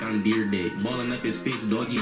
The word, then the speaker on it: Dyrdek: Got the S boys, Rob Derrick, and this was suggested by Jordan.